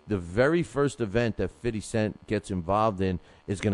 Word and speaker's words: 50 Cent: I learned how, my boxing listeners taught me how to say it's not 50 cents. It's not 50. It's 50. It's 50. 50 cent.